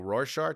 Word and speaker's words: Rorschach: The Rorschach test? Is that how you pronounce that? Yeah.